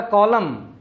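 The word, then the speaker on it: column: कर सकते हैं कि अगर इंग्लिश लैंग्वेज के किसी वर्ड के आखिर में M और N इकट्ठे आ जाए तो N साइलेंट हो जाता है। जिस तरह ऑटम मौसम का नाम है, AUTUMN, ऑटम। इसी तरह कंडेम, इसी तरह कॉलम। अब ये जितने भी मैंने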